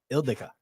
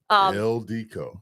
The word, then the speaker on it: Ildiko: Say it. Ildika. Ildiko. No. Damn it. Damn There you go. Joe. Damn it. Ildiko.